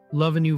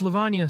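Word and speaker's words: Lavanya: Love a new Verma. I shot her my sharpest glare. It's Levana, sir.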